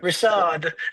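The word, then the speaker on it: Richard Mille: watches and then like if you broke you say Richard Mill like yeah like okay Rashard the Swiss pronunciation Rashard right my name's like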